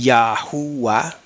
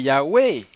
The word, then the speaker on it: Yahweh: pena hermanos como ahora algunos están diciendo yah y yahua añadiéndole una u ahí donde no va supuestamente conforme lo de